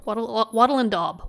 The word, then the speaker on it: wattle and daub: Wattle and daub. Wattle and daub. Okay. That's the correct pronunciation, I believe.